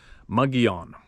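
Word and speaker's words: Mogollon: video and Bigfoot slash mowglong monster pronounced muggion Kevin said if you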